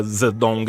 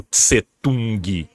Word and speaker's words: Zedong: e sim a grafia zedong é para deixar mais próximo do que é no original em mandarim mesmo né a transliteração é mais próxima do que do que o tsetung que a gente vai pronunciar tsetung até porque a gente